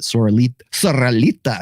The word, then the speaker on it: Soralita: I'm so glad that Soralita, you have to roll your R's.